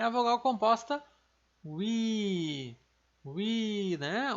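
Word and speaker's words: 위: É a vogal composta wi, wi, né? U mais I exatamente igual aqui fica wi.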